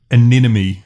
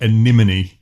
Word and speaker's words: anemone: Well, something that annoys me more on the album is that there is a song called Aneommy when it should be anemone.